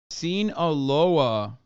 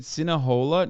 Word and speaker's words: Sinaloa: Am I saying it of wrong? Sinaloa? Sinaloa. You said Sinahola? No, I didn't. I don't even know how to. Those Sinahola? I don't think I've ever said that. You said it wrong once, and chat can't shut the fuck up.